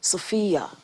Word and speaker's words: Sophy-Yah: name by the way sophia it's the same um pronunciation but just different spelling um let me tell